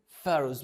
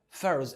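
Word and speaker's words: pharaohs: سن صغيره مبدائيا كده البي اتش بتنطق اف تمام فهنطقها ازاي بقى مش هنطقها ب انطقها ف فه فارز اسمها ايه؟ فاروز مره كمان فاروز اخر مره فاروز طب يلا نقولها ثلاث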